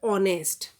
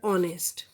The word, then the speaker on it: honest: Like for example, honest. This word honest begins with H, but H is silent.